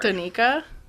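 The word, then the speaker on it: Danika: It's like Danny, but a ka?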